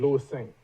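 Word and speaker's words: Louissaint: It's Louis Saint. Louis Saint. Yes, Is that French? It's French. It's French.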